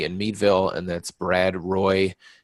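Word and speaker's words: Roae: Meadville and that's Brad Roy his name is actually spelled ROA E but it's pronounced Roy and he's represents Meadville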